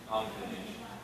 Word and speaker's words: combination: The end moved to the accent and syllable. Combination. That's why I separated it differently. It just keeps the place where I'm going. And by itself, because the entire stress of the word is on nay.